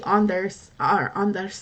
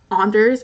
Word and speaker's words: Anders: His name was very Americanly pronounced Anders, and like we had a Norwegian exchange student who never called him that. She was always like, "It's Anders."